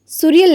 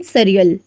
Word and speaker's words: surreal: इसका pronunciation भी देखिए, surreal नहीं surreal.